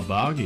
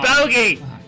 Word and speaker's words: bogey: Oh, boggy. Speedy. It's pronounced bogey.